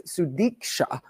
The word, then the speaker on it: Sudiksha: college student in the Dominican Republic that still show Sudiksha Konanki, sorry I said her name wrong, it's Sudiksha, with her friends at the Rio Republic Hotel in Punta Cana on Thursday morning.